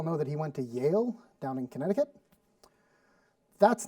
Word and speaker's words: Yale: That's not how my mother pronounces it because the Y in Swedish isn't pronounced that way. So her constant way of pronouncing that was, oh, George Bush went to jail.